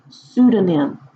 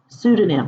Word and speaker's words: pseudonym: name is called a pseudonym pseudonym but it starts with a P so that makes no sense right but take it